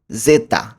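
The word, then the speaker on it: zeta: জেডকে উচ্চারণ করব ইতালিয়ানে জেতা।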